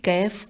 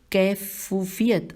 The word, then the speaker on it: کیف: میں بعید۔ اس کی کیف کیا ہے؟ یہاں پہ سوالیہ نشان ہے۔ کیف کے ہجے ہے، کاف یہ فے اور کاف کے اوپر زبر ہے۔ اس کی کیف کیا ہے؟